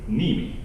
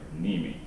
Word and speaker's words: Neeme: But yeah, so everybody, this is Andrew Neeme. Correct. And well done. Well pronunciated. Yeah, I remember the episode where you said people has been asking how do you pronounce your last name, so Right. Neeme. Right. Yeah.